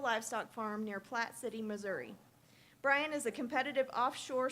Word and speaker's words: Missouri: beef cattle farm in Missouri or Missouri as I'm told it's pronounced by the locals he has served in